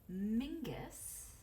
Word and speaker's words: Menzies: with the last name Menzies fun fact Menzies is the anglicized pronunciation of Mingus which is actually a very common a Scottish surname does that mean that